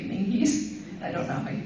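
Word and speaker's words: Menzies: hopefully you know that m n z i e s can be pronounced menes but it's really mingies I don't know I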